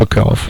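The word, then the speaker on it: Shipachyov: Shipakov.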